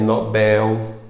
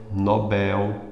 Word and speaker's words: Nobel: é o do Ouro eu tô também Nobel Nobel Nobel mais forte é um Bel e não ele ganhou o prêmio Nobel é um Nobel o prêmio Nobel eu